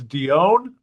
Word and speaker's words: Dion: Uh, and Jeff tells me I I pronounced your last name incorrectly. It's Dion.